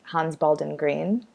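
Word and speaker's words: Hans Baldung Grien: native German speaker, but the very Americanized way of saying it is Hans Baldwin Green.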